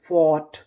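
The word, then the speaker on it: fought: तो पूरी meaning थॉट एफ ओ यू फॉर जी एस टी ट फोर्ट फोर्ट फोर्ट का मतलब होता है लड़ा ये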